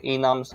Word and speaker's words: enum: Enums, enums. I usually call them an enum. Enum, yeah. Stress on the first syllable.